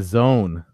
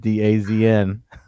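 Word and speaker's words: DAZN: partnership they did with the zone that's how that's supposed to be pronounced just so you know that daz in you know I don't know it's gonna be days in for quite a while yeah you know obviously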